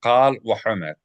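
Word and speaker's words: קל וחומר: Is it Kal v'chomer or Yeah, Kal v'chomer. Kal v'chomer? Kal v'chomer, and that's with a quf as opposed to a kaf.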